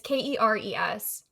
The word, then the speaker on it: Keres: I want to say it's pronounced Keres. It's Keres, but they're female.